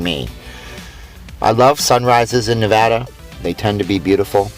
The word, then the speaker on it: Nevada: to be beautiful and it is Nevada not Nevada everybody during the political debates likes to call us Nevada its Nevada we have a license plate that points out the incorrect pronunciation and as we pull